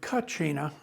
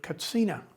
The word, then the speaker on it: katsina: 20 years or so we've moved at the urgings of the hopi to pronouncing the word katsina because there's no chus sound in the hopi language so out of respect